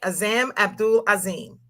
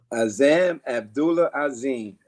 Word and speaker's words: Azzam Abdullah Azim: And am I saying it right? Azzam Abdul Azim. Azzam Abdullah Azim. Yeah, buddy. Yes, ma'am. I got it right.